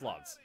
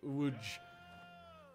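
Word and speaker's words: Łódź: letters L o DZ it's not pronounced Lots it's it's pronounced more like wood I mean I mean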